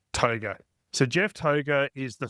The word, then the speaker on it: Tougher: Now it is Toga, okay? It's spelt tougher, but it's Toga.